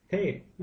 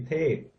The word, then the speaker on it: tape: This is an English word that they've made now into a Thai word, and they pronounce it tap, but it's really, we say tape. Remember, they don't have that A sound.